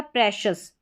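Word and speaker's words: precious: साथ में नजर आएगा, इसको शियस या शस करके दोनों तरीके से पढ़ा जाता है, लेकिन ज़्यादातर कौन सा उच्चारण यूज में आता है, बोलने में आता है, वो है शस। शस मतलब सही उच्चारण। आपको शियस करके भी सुनाई देगा, लेकिन जो सही उच्चारण, करेक्ट उच्चारण रहेगा वो शस करके रहेगा, जैसे यहाँ पर लिखा गया है ये शस।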